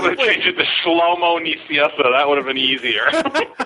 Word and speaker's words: Nicieza: Nicieza. Nicieza.